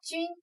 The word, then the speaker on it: 龟: 这个字呢，是一个多音字，在这里读作军，军列的军，它也念作龟，乌龟的龟，在这里读作军列。